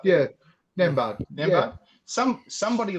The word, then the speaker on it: Nembhard: Yeah, and then if you get that, is it Andrew Nembhard, or how do you pronounce that name? Nembhard, yeah, Nembhard.